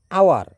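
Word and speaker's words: hour: Next দেখো আওয়ার। আওয়ারের এইচটাও কিন্তু একই রকম।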